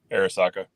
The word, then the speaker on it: Arisaka: And I might mispronounce this. I'm ignorant. Is it the Arisaka? Yeah, Arisaka.